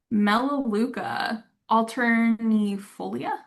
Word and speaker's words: Melaleuca alternifolia: Melaleuca alternifolia.